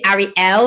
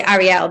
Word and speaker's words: Arielle: say Arielle, but then some people say Arielle, like, and they kind of swallow the L's, but then that's their accent. So like, it's just as long as, if you're not calling me Ariel, which you have not called me Ariel once, you called me Arielle.